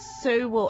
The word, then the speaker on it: Sewell: Conrad Sewell. How do you say his last name? Sewell. Sewell. Yeah. Sewell. Sewell. Sewell. Sewell. Like Korea, like Seoul, Korea.